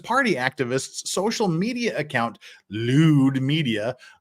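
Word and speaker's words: Lude: Rumors began circulating on August 21st after anti-Chinese Communist Party activists' social media account, Lewd Media, unfortunately Lewd is spelled L-U-D-E and not L-E-W-D.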